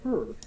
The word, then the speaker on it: HRRR: I've got a couple people that are saying it's actually pronounced the HRRR, so interesting. It is the her.